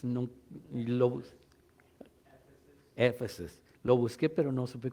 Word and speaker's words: Éfeso: This is the Efesios, no, Éfesos.